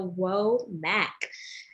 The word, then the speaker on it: Womack: mac y'all is spelled w as woman os and open m as in mary a asn apple c as in charlie and k as in kangaroo so whoa mac and thank you so